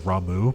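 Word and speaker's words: Ramuh: yui had Rama uh also I know his actual pronunciation is ramu but I refuse to say it that way uh blue Mage gaming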